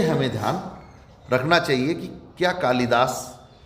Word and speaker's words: कैकेयी: केकई, केकई राम की सौतेली माता जी का नाम था केकई, ये शुद्ध है? नहीं। कैकेयी, कैकेयी, ये बोल ही नहीं सकते, इसको उच्चारण का अभ्यास ही नहीं है हम लोगों को। कैकेयी, कैकेयी ये शब्द है।